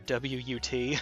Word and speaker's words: what: that's a correct the we used to pronounce whh a as if it were wh a t and now we don't now we pronounce it as if it were wut old there we go